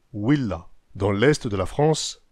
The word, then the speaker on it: villa: La lettre V des latins était prononcée OU. Villa était prononcée Willa.